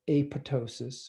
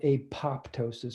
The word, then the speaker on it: apoptosis: through a process called apoptosis, or it's spelled apoptosis, but it's not pronounced that way. I promise you it's apoptosis, and I can prove it.